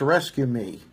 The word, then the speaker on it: RESQME: State troopers have received a new rescue tool, and it looks like it's pronounced Rescue Me. Yeah, Rescue Me, RESQME tool.